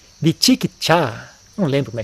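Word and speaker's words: vicikicchā: Kukucha, Vichikicha, eu acho que é assim que pronuncia em Pali, né?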